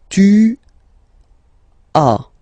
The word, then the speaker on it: tu as: Okay, second one, tu as. Okay, as usual in French, final s is not pronounced. Tu as.